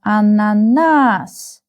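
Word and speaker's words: ананас: Uh the last uh syllable is stressed. So we have ananas.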